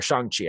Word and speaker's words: Shang-Chi: But like Shang-Chi this year, or Shang-Chi, I think is how it's pronounced.